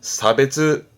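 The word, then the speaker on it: 差別: 발음은 사이. 사이. 그렇죠. 차별이 되겠네요. 사베즈.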